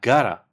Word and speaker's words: have got to: You have got to can be pronounced like gotta.